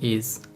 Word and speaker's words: Ei: are pronounced like one the first diphthong is our E and a which is pronounced like the English word I an example for I is my which means the month main and I which means egg the second diphthong or